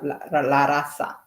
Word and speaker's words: raza: I think in Spanish, the Z is pronounced like how S is, like la raza.